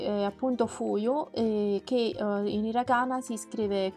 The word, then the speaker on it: 冬: L'ultimo kanji rimasto è appunto quello di inverno, che in giapponese si dice fuyu. Il kanji si scrive così. La pronuncia con yomi è appunto fuyu, che in hiragana si scrive così.